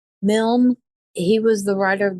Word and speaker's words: Milne: Whenever they're getting on the internet, it's, how is that pronounced? Milne.